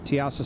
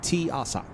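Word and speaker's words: Teasa: no I'm not going there for damn sure tiasa Spaceport yep tasa Spaceport no tiasa I'm going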